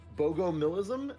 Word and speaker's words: Bogomilism: It's Bogomilism. Is that how do you pronounce that?